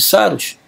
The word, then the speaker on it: Saros: Saros vem do grego Saru, que significa Saros, pronuncia-se Saros, né?